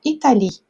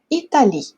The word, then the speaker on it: Italie: francês a gente fala Italie. Então, o E a gente não pronuncia. Italie, tá certo? Então, se aqui a gente pronuncia Italie e termina com E